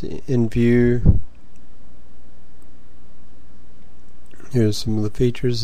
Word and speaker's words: Nvu: view site and uh it's pronounced in view here's some of the